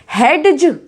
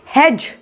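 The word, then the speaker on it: hedge: हेडज, हेडज, नो, ये है हेज, हेज।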